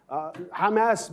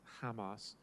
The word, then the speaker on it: Hamas: You know, it says, why is Hamas, I'm sorry, I'm pronouncing it the Hebrew way, why is Hamas, which is a democratically